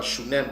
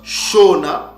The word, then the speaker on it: Shona: prononciation de ces mots qui ne se prononc pas chunem comme les prononcent les Édomites mais se prononce shona ou Sona c'est comme ça qu'